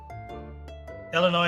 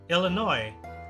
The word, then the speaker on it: Illinois: huh but I'm yeah I am aware that it's a silent like uh what do you call that that the S is silent but maybe I don't